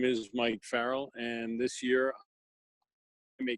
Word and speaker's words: Farrell: I'm here with how do you say your last name actually it is Farrell Farrell okay I'm here with